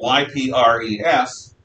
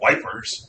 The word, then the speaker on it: Ypres: Ypres, which is spelled Y-P-R-E-S. I always, when I was a kid, thought it was pronounced Wipers, but it's not. It's Ypres.